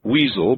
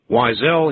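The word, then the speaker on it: Weisel: And there would be a lot of people out there, cruel people, I'm sure, who would pronounce his last name Weasel, but Weasel he is not. Weissel he is. Is it Weissel? Yep, that's the name.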